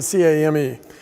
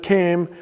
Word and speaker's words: came: to pronounce that well the L is silent so now you just see it written C AME but lead isn't always